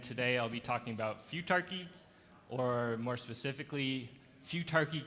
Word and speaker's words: futarchy: is few turkey so few turkey is pronounced like the word future with the suffix R key that's using words like anarchy and monarchy and few turkey is